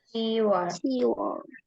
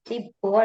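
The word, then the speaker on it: 시월: 10 adalah sip, tetapi di sini pengecualian juga, jadinya siwol. Siwol. Oke, bukan sipul ya.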